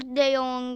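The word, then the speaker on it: de Jong: arkadaşlar Kep Kep ve Allah kriz Mandır değer dejong de yazılıyor ama Canon diye okunuyor dur arkadaşlar abone ol Evet şimdi koştur de Yong like at Bey griezman ama geçmesin nasıl öyle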